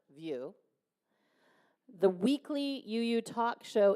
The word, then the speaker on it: VUU: Janine also serves the Greater UU movement as a co-host for the VUU, that's pronounced View, the weekly UU talk show in podcast.